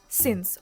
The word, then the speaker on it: since: І будь ласка, зверніть увагу на його вимову, бо science дуже часто його називають, плутають. Це абсолютно інше слово since. Отак, як ви його бачите. В принципі, так ви його читаєте.